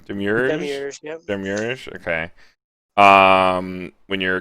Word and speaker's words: Demiurge: Demiurge, yep.